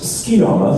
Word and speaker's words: Sugiyama: To bring to another into the character, how did you feel about playing Sugiyama from Tokyo? Oh, yeah! It's pronounced Skiyama, thank you very much.